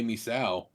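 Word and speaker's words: Misao: maker horror games and we're going to play misaw how the do you spell that m-i-s-a-o surprise you didn't do like red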